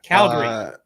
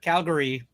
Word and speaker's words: Calgary: visit Canada I do uh Calgary sipping tequila Calgary not Calgary Calgary okay just Calgary okay got it that's